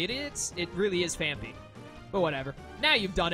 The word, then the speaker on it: Phanpy: Fanti phanpy I used to always call it fancy and then people told me it's actually pronounced phanpy like a ton of people told me that